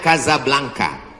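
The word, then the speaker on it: Casablanca: nama negaranya Maroko ibukotanya tulisannya Caca blancha cara bacanya Kadzab langka Kaza artinya rumah Blanca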